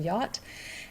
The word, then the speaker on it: yacht: new word for some it's also pronounced a little bit differently than it's spelled in German you would say Yak but in English we say a yacht and it's a type of boat or type of ship